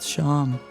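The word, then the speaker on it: Seam: The name Sham, pronounced Sham.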